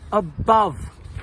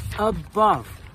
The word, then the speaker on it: above: So, what they did was if a u was followed by an n, an m, a v, or a th, they changed the u to an o just to make it easier to read.